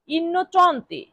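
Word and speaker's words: innocente: হবে নির্দোষী নির্দোষী এর ইতালিয়ান অর্থ কি হবে ইনচন্তে ইনচন্তে ইনচন্তে আই এন এন ইন সিই এনটি চন্তে ইনচন্তে ইনচন্তে ইনচন্তে ইনচন্তে মানে দোষী।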